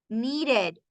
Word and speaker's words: needed: Miren, señores, que suena la ED. Needed. Waited. Decided. Visited. Visited. Suena, suena todo.